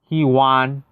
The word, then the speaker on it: hewan: It's either Hewan or Heian. If I'm correct, I don't think Bobo even plays much. No, it's he won. He won. Thank you for telling me. Learn something new. He won. He won. He won. I think I pronounced it correctly now. The first one was right.